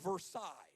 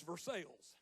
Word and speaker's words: Versailles: in rural Missouri that if we were cultured it all would be pronounced Versailles but because we live in Missouri it's Versailles can't explain that it's just real he was driving the